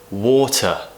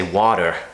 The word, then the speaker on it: water: We don't say water like an American, we say water, water, whatever, whatever. Metal, metal. So the main thing to know is that we're not pronouncing it as this tap sound that I mentioned, which is like a combination of a T and a D.